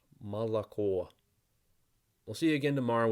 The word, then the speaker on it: молоко: Russian will tell you Russian is really easy to pronounce because the letter always says what the letter says and it never changes and they're right most of the time except for this word with three o's or the O in